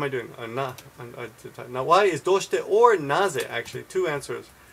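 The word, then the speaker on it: どうして: Naze or doshite. And this is how we say why. Doshite. And actually I would put a little U in there just to get the pronunciation right.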